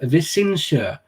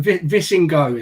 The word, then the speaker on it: Visingsö: casks, the island of Visingsö, which is my more or less spot on, if I do say so myself, pronunciation of it. But it's not bad, Mick, right? Yeah, but Visingo is how I said it, because that's how I read it before.